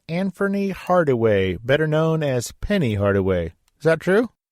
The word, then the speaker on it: Penny: Hardaway, better known as Penny Hardaway. Is that true? Well, in Memphis, it's pronounced Peeny, but yeah.